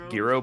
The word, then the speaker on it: gyro: you pronounce it wrong is it like gyro or something it's like apparently it's Giro but I call it gyro well I mean the